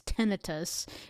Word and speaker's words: tinnitus: talk about tinnitus today I know you're probably wondering about the pronunciation of tinnitus I am so used to pronouncing it that way apparently the correct way is tinnitus if you talk to a doctor that's probably the way they will refer to it apparently it has to